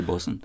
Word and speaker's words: bosun: man Bosco's made you going to say bosun and spell it with a boa ts also right Blass Wayne but the pronunciation is the same absolutely right yeah an